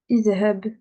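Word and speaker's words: اذهب: Vu que là, la troisième lettre, c'est une fatha, et ben, je vais mettre une kasra. Je vais mettre une kasra. Idhab, idhab.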